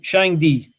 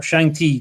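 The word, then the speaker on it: Shangdi: Chinese were worshipping who shine D or shine T depending on how you pronounce it and that translates as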